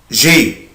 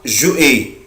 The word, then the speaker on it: j'ai: أحفظهم هو كده avoir j'ai. بس كده اسمها j'ai. في ناس بتنطقها جو اي، طبعا غلط جدا، مفيش حاجة اسمها جو اي. أنا الأبوستروف ده ولا يكون موجود، أنا بنطق الفيرب على بعضه.